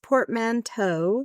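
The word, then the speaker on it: portmanteau: Mano I it says two Port P it's pronounced portmanto no what I that makes sense I just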